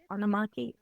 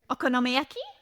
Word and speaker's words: okonomiyaki: well I did like onaki how do you say it okonak there you go I can only manage